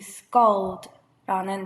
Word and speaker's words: scald: 이 scald, 아가 들어있는 애는 이렇게 편하게 입을 열어 발음하듯이 그 다음에 scald 그 LD 발음을 드 발음을 하려면 어차피 혀가 갖다 붙어야 돼요.